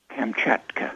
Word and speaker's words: Kamchatka: well as Bear Man of, how do you pronounce that part of Siberia? Kamchatka? Kamchatka.